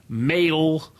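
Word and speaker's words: Mayl: names like Lan Dex male like they're all as in male but it's spelled m a y l so all the kids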